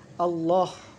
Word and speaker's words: আল্লাহ: যেমন আল্লাহ, এই লামের দ্বিত্ব উচ্চারণ হচ্ছে আল্লাহ।